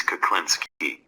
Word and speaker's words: Klinski: use text speech for that my name is klinsky it is spelled kid u NSK